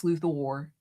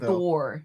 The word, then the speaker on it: Luthor: Like, I want to say Lex Luthor. Like, I want to emphasize the way Gene Hackman would say it, Luthor. And he played Lex instead Luthor. of Luthor because it's an O and not an E.